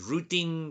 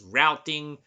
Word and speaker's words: routing: the network layer now this layer is sometimes referred to as the routing layer or rooting layer you know depending on which country you're from you might pronounce this differently some countries pronounce this as rooting some pronounce it as routing potato potato I think